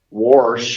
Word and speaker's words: wash: What really has me perplexed is that you have these terms that you use, such as wash. There is no R. There is no R in the word wash.